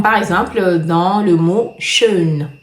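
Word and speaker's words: schön: Alors après vous avez le ha avec très main comme par exemple dans le mot shun. Je compare ça toujours à la première syllabe de la forme faisons.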